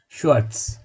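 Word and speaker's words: schwer: শোয়ার্টস black বা কালো, আমি আগেই বলেছি যে কোনো ধরনের কালার অ্যাডজেক্টিভ। শয়ার এখানে ভেটা ভয়ের মতো উচ্চারণ হবে না, কিন্তু একটি স্ট্রেস দিয়ে উচ্চারণ করতে হবে।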